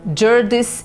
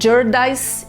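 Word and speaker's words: Jarndyce: No centro desta história está o caso judicial Jurdis e Jurdis, ou Jurdais e Jurdais. Eu encontrei essas duas pronúncias diferentes.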